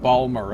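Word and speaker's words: Balmora: around the town of Balmorra or Ballmer uh as they pronounce it maybe they can point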